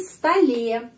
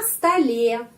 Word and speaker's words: столе: Kita tambah huruf y jadi столе, на столе. Di sini penekanannya pada huruf y.